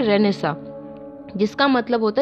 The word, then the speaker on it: Renaissance: इसकी स्पेलिंग तो अलग है लेकिन इसको प्रोनाउंसिएशन ऐसे ही करते हैं, इसको कहते हैं रेनेसा, जिसका मतलब होता है रीबर्थ, मतलब पूर्व जन्म, मतलब नया जन्म जिसे कहते हैं, राइट।